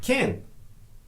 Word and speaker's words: can: When asking a question with can, we pronounce can like kin. But when we answer the question, we pronounce can as it's written.